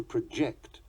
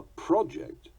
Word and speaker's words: project: Sometimes the stress will change according to the meaning or nature of the word. He inclines to project bad vibes. A project to study the inclines. He proceeds to rebel. The rebel steals the proceeds.